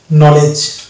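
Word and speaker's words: knowledge: এগুলো হচ্ছে তার এক্সাম্পল তাহলে pronunciation it's actual pronunciation is নলেজ and last word is logically actual উচ্চারণ হওয়ার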